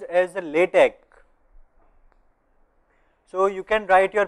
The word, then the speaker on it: LaTeX: So it's pronounced as a LaTeX.